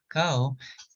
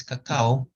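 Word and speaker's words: kakaw: ceremonial cacao is there's two parts to it.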